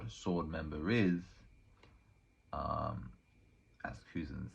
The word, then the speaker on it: Kuzan: It is Kuzan. Yeah. I'm correct. Kuzan does a terrible job of convincing us he's not a sword member by explaining exactly what a sword member is. As Kuzan says, he's Navy, but he ain't Navy.